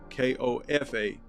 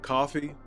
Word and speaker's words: Kofa: Again, this is Kofa, K-O-F-A. Not coffee, not, not kofi, or any variation thereof. K-O-F-A. Kofa rhymes with sofa.